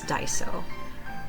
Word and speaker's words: Daiso: was saying it really wrong before but it's Daiso um they just opened a new store literally